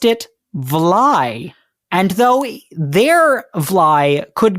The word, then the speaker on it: vly: Hudson Valley Dutch shortened the Dutch valet but pronounced it vly and though their vly could be spelled vle